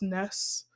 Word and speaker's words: NES: also have like a nest classic and a SNES classic and the Nez class has Galaga on there yes is pronounced Ness I believe but a lot of people say NES either way and also I have